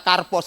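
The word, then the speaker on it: καρπός: kasih Mengapa karena kata hode karpos ini kata karpos ini bacanya karpos yang modelnya kayak eh apa model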